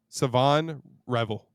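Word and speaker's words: Shavon Revel: No, the H is silent. Dead ass. Savon Revel.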